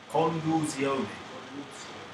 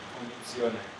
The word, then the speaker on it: condizione: Conduzione. Conduzione. Condizione.